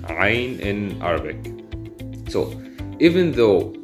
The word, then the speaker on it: عين: But when we pronounce the عين, it's عين. We tighten the throat to make this kind of knot with the air. عين.